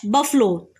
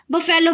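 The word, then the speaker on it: buffalo: रहा है, and dash बफलो, अ बफलो. कई स्टूडेंट्स इसको जो है, आप इसके प्रोनाउंसिएशन पे ध्यान दीजिए, बफेलो भी बोल देते हैं, लेकिन वो सही नहीं है.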